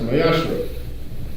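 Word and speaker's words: מעשר: You can find this in Numbers 18, verse 21, and Malachi 3, verse 8 through 10, means tenth in Hebrew and is pronounced Mayashra.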